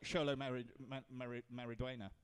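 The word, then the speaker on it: Xolo Maridueña: Is a sh sound. So. Oh, X yourself then. Right. Yeah. Because it's like Sholo Mariduena.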